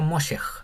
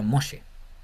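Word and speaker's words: משה: mem mos la g que está aquí no se pronuncia porque esal entonces no sería mosj sería moshe mos entonces tenemos un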